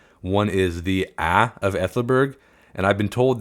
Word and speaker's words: Aethelburg: One is the A of Aethelburg, and I've been told that AE symbol is pronounced like A in cat, but then from Charles